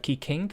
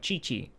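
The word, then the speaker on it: Qiqi: ki ching instead of ki king which i that's how i pronounced her name earlier but ching there's mona and same thing for not kiki but chichi and then you have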